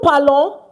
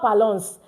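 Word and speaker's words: parlons: That new palon meaning we speak or we are speaking it's not palons the s is silent okay the star hello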